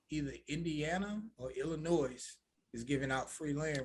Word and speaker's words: Illinois: because i'll be like illinois and i'll be like illinois and they'd be like you know you've been saying it wrong it's illinois the s is silent i was like oh